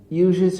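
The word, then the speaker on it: usage: ইউজেজ অর্থ হচ্ছে বিশেষ ব্যবহার। ঠিক আছে, এর উচ্চারণ হচ্ছে ইউজেজ।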